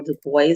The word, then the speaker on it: Du Bois: We're going to fast forward to 1932 when W.E.B. Du Bois, or Du Bois as some like to pronounce his name, when W.E.B.